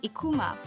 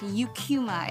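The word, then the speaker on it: Eucheuma: And I would hear Japs pronounce the name of the seaweed species as Ikuma. The scientific name is pronounced Eucuma in English.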